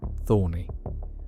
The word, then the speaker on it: Thorne: He changed his name to Larry Thorne, although he preferred the hybrid pronunciation, Thorney.